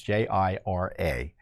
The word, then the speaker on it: Jira: censor Americans and they did it through this Jiro platform I may be mispronouncing it but it's j-i-r-a and jira is a software application developed by